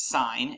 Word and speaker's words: sine: It's pronounced sine, and abbreviation is SIN.